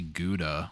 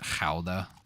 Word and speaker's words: Gouda: I mean, I say Gouda for what that's worth. I understand that people over there, I think, pronounce it Gouda.